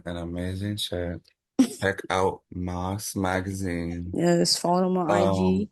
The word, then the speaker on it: Mas Magazine: And also shout out for you for giving the correct pronunciation, because I've been calling it Mass Magazine for the longest.